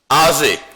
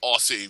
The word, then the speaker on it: Oziend: Well, actually, it'd be pronounced Aussie because those are S's and not Z's.